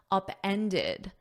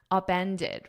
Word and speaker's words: upended: in the past simple upended because as it's in an ed you need that ID at the end upended repeat after me upended